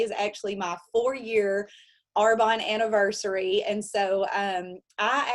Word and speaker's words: Arbonne: arbonne business which y'all i used to say arbone because i didn't even know what it was i didn't even pronounce it the right way um i watched her build her arbonne business alongside her full-time